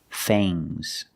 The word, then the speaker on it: fangs: Remember with ngs, it makes a soft g. Bangs. Bangs. Bangs. Things. Things. Fangs. Soft g.